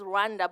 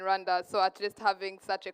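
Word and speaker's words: Rwanda: do not they say we we pronounce it as Randa but they say it's guanda so she's going to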